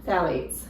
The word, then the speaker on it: phthalates: Phthalates.